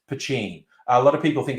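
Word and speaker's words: poitín: told me in guelga it is pachin that's how you say it so that's a little factoid you can get one up on your friends it's not patini it's pacing and this one is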